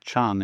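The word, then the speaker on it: 禪: And so this being pronounced Chan in Chinese and Zen in Japanese is unfortunately untransatable in English.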